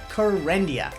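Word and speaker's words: Kerendia: medication first in class it rhymes with for India it's called karendia exactly and the actual medication generic name is you know what's great about the exam you can use training so remember corendia this is for those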